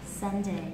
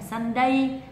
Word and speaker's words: Sunday: nhật thì sẽ là sunday lưu ý là không phải là sunday không Nhấn vào âm tiết thứ hai không đọc âm tiết